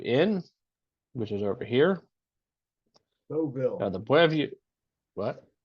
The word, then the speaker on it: Deauville: In addition to that, we also have the, I don't know how to pronounce it, the Buoy Inn, which is over here. Deauville. The Buoy, what? Deauville.